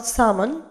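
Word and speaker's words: salmon: هيك شيء، رول لفافة، سامون اللي هي سمك السالمون طبعا الألة تلفظ سامون، سولت ملح، ساسج سجق،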